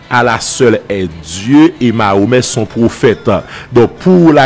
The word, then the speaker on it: Mahomet: Mahomet, c'est de son vrai nom Muhammad, la prononciation française, c'est Mahomet, c'est un arabe, un prédicateur arabe qui vivait le 6e siècle après Jésus-Christ, les années 520-530.